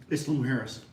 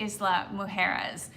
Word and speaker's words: Isla Mujeres: that you can see, Bennett, how do you pronounce it? Isla Mujeres.